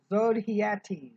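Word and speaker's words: Zodhiates: got spiroz and i don't know how to pronounce his last name zodiates it's z-o-d-h-i-a-t-e-s from the exegetical commentary on matthew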